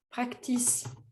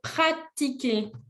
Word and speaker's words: pratiquer: Ce mot-là, il est calqué sur l'anglais. Parce qu'en anglais, c'est practice. Mais en français, c'est pratiquer. Il n'y a pas de C avant le T.